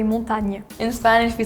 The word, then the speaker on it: montagne: In France, we say montagne. In Spanish, we say montaña. Yeah! Montaña. It's literally the same word, yeah. We just don't have the A at the end. We don't pronounce it.